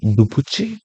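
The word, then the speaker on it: 对不起: এরপরে যদি আমরা সরি বলি তাহলে দুপুচি, দুপুচি, দুপুচি, তুপুচি, তুপুচি, তুপুচি, তুপুচি, তুপুচি, তুপুচি।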